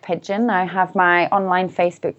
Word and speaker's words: Pidgeon: is spelled, and Pidgeon is the spelling of like the bird. Pigeon. It's got a D in it as well, though, for pigeon. So it's Pidgeon. Dgeon.